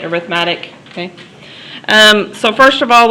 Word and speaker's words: arithmetic: we call arithmetic sequences i know that's spelled like arithmetic but you say it arithmetic okay so first of